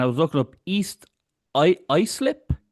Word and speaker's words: Islip: You were born on Long Island, and I was looking up East Islip.